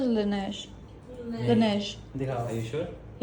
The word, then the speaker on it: Laneige: I don't think that's how you pronounce it. You pronounce it Laneige.